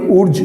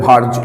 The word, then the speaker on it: Wurtz: এটাকে আমরা অনেকেই প্রোনাউন্সিয়েশন করি উর্জ রিয়াকশন বলে, বাট অ্যাকচুয়াল প্রোনাউন্সিয়েশনটা হবে ভার্জ রিয়াকশন, হোয়াট এভার, যেভাবেই প্রোনাউন্সিয়েশন করো।